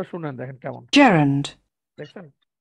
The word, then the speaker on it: Gerund: noun হচ্ছে normal noun না এই নাউনটা কি জিরান জিরান আচ্ছা জিরান উচ্চারণ না কিন্তু আমি আপনাদের আসলে সঠিক উচ্চারণটা